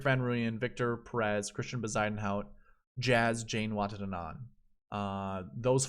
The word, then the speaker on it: Bezuidenhout: Bezuidenhout.